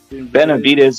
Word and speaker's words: Benavidez: like yeah he's a big fan of um Ben videos yep how do you say the name Ben videos benavidez yeah he's a very big fan of him